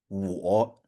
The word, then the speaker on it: 我: And so you have it as now basically when you see this one, it's okay, I'll pronounce it as 我 Mm-hmm.